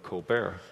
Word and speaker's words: Colbert: Steven covert and the colbert except that he the one thing he did you know decide to have his name pronounced Colbert early on you know I already